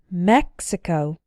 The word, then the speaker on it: Mexico: And if the X is followed by a vowel sound, but not followed by the stressed syllable, then the X is still pronounced ks, as in the words taxi and Mexico.